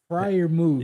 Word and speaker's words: Freiermuth: your top receiver was damn, how do you pronounce that name? Freiermuth.